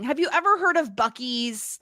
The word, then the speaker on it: Buc-ee's: how, so they go to a place called Buc-ee's for chicken. Now, I looked this up. This is not a real place, but there is a thing. Have you ever heard of Buc-ee's, like, in the United States?